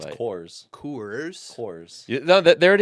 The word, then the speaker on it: Coors: Corz.